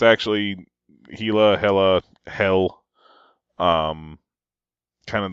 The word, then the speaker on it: Hela: H or Hela I don't know the correct pronunciation um but and it's actually hila Hela hell um kind of all the same